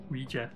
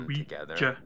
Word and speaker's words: Ouija: Desuden så betyder Ouija, ja på fransk og ja på tysk. Ouija. Eller det har jeg tænkt set, jø. Jeg synes, det udtales jø, så det er Ouija.